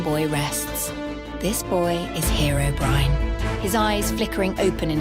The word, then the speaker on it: Herobrine: like in two words I had to write it that way for the um for the AI say Herobrine properly cuz sometimes she would say it properly and then she would say like Herobrin anyway here's part two